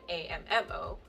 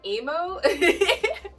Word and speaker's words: Amo: Amo not Mo like amm o but it's still is pronounced ammo like ammunition but since it's spelled wrong a lot of people go Amo so obviously I'm kind